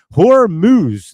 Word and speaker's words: Hormuz: Hormuz, that's how you say it.